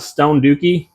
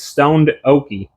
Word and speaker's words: Stoned Okie: After the video, I went back and looked at everybody's YouTube channel, and I found out that it's not Stone Dookie, it's Stoned Okie.